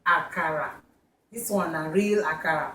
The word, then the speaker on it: akara: how to make aara I know I said aara the last Edition that's the way Americans say it but we say aara this one a real